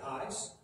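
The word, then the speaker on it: εἰς: corresponding preposition in greek some people pronounce it eyes i pronounce the ace i've had a little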